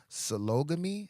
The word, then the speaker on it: sologamy: Solo sologamy, like polygamy, but it's sologamy.